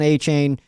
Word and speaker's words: Achane: Devon Achane and Jalen Waddle.